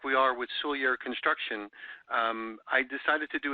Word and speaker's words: Soulliere: And Soulliere is one of those names that takes you about 100 times to figure out how to say it the right way. It's Soulliere.